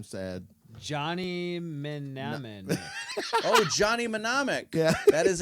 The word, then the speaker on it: Mnemonic: Like a mnemonic device. Yeah, but it's spelled M-N-E.